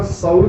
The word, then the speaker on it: Saul: रहा था तो उसका साउल का स्पेलिंग क्या होते हैं पता आपको? SAUL, साउल, सॉल, तो सॉल बोलते हैं सॉल।